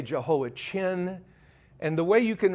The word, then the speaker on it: Jehoiachin: Now, in English, they say Jehoiachin.